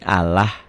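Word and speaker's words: الله: Lafaz Allah dibaca tarkik. Ingat kik tipis berbunyi Allah. Ya seperti saudara-saudara kita agama lain ya, Allah.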